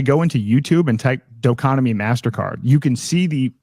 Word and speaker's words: Doconomy: Spell that do o like instead of economy doo economy like d o economy.